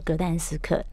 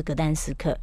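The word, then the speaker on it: Gdańsk: 嗯，其实就是格但斯克，嗯，对，只是一个是德文的发音，然后一个是波兰的发音，原来是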